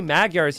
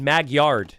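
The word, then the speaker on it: Magyars: meant to pick Maguyars only he didn't say Maguars he said Magyard he would always misspell it and sometimes his opponent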